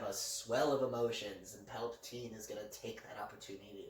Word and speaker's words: Palpatine: Palpatine. I hate that your speech impediment... How do you say it? Like... Palpatine. Like heart palpitations.